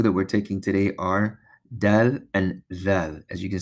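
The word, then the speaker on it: دال: an acute angle, and we pronounce it as dal, dal, like the letter D, A, B, C, D, the same way.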